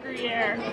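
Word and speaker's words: Gruyère: Hey, you just pronounced Gruyere.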